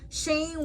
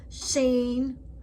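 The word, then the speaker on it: שין: Sheen, when the dot is over the left side, is pronounced like an S, as in so. Sheen, with the dot on the right side, it makes a sh sound, as in show.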